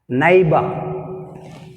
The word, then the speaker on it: neighbor: Neighbor. Neighbor word which is silent, gh is silent.